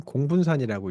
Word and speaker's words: 공분산: 그래서 이거는 공분산이라고 읽으시면 됩니다. 공분산.